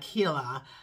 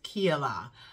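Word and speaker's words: Keilah: way to kakila uh is spelled um k-e-i-l-a-h uh Kila in the Hebrew it is Kila uh Kayla I believe k-e-h-e-e-l-e-w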